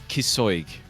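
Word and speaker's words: Cíosóig: It's Kisoig. No, it's not. That's apparently how you pronounce it.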